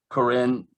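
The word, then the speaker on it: Koren: phonetic the way it looks but it's uh corinne zeal cass spell it the last it's corres k-o-r-e-n and it's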